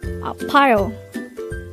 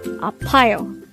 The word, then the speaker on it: 아파요: Apayo. Apayo. This is pronounced as a three-syllable word. The first syllable is a, the second syllable is pa, the third syllable is yo. Pronounce it with me. Apayo.